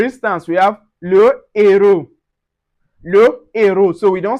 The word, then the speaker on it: le héros: The ash aspiré is also not pronounced, but it blocks liaison and élision. That is, for instance, we have le héros. Le héros. So, we don't say l'héros.